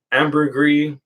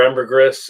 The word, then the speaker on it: ambergris: to get four truly amber gree door ambergris if you can't say it like that and finally yes tobacco